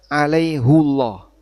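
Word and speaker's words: عَلَيْهُ اللَّهَ: Nah, di ayat ini bacanya alaihullah keluar dari aturan ya aturan dalam umumnya penggunaan harakat damir muttasil hu.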